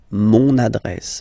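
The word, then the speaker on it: mon adresse: address my address address mon address okay you can hear now this little link so you've got to pronounce this n mon address address okay and the last one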